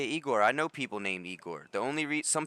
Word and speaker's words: Igor: The only re Some people say Igore because of uh Young Frankenstein, the Mel Brooks film where he's like Iore, not Eigor. But most people I've met are named Eigore.